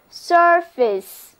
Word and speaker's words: surface: 她勇敢地面对困难。咱们继续谈论脸。我们在 face 这个单词之前加上 pre 这个表示之前的前缀，那么 preface 跟我读就是 preface。这个单词的意思应该跟前面的、表面的有关系。所以它就是指写在前面的话，就是一本书的序言、引言、前言。另外一个单词也表示表面的、外表的，不过跟前言没有关系。我们在 face 之前加上 sur，这个表示上面的前缀，就出现了这个单词 surface，字母组合 ur 读作 a。跟我念这个单词就是 surface。 surface 表示事物的外表，例如我们说 the surface of